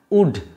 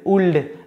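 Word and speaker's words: would: এর উচ্চারণটা হয় না উড এই উচ্চারণ হয় না অনেকেই বলেশুলড উলড এরকম নয় ওকে এই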